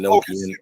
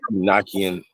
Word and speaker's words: Enochian: Nah, it's all the same. You know, Okay. Enochian, Enochian. Yeah, it's Enoch.